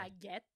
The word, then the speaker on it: baguette: What's the proper way? Baguette. It is. It's not a bach.